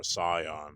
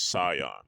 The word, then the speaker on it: Saiyan: Yes, I'm saying Super Saiyan because that's the actual pronunciation. That's actually the correct pronunciation, I should say. Instead of saying it's Scion, and that's the actual pronunciation again.